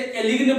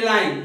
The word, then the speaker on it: align: बहुत लोग इसे एलिग्न पढ़ लेते हैं, तो एलिग्न नहीं, अलाइन, जी साइलेंट है, यहां पे ध्यान समझिएगा, जी जो आपका है लेटर ये साइलेंट है, तो अलाइन पढ़ते हैं हम इसे।